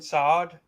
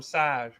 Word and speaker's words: Saad: Brandon Saad. Thanks to Slapnuts, I know how to say his name. I was always calling him Sad.